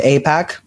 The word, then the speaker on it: AIPAC: I pronounced it incorrectly on our last episode. AIPAC, I believe it's called.